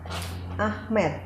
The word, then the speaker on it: Ahmed: Ahmed. Iya, saya. Ya. Ahmed. Ahmed. Oh, nggak pakai H. Bacanya? Nggak pakai H. Oh, irit sekali ya. Ahmed. Iya. Bukan Amit tapi ya.